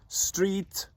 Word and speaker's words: Stryd: So, if you're ever lucky enough to be up here in the northeast, don't be surprised to see and hear Stryd or Stryt.